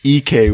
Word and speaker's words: Ike: It's EK, we learned.